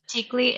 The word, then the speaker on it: Tikli: Tikli.